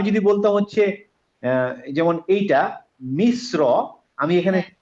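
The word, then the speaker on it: مصر: হ্যাঁ, হ্যাঁ, কিন্তু আমি যদি বলতাম হচ্ছে যেমন এইটা মিশ্র, আমি এখানে হ্যাঁ। মিস বলে মুখটা খুলবো না, মুখটা গোল করে ফেলবো, মিশ্র ও, ও, মিশ্র।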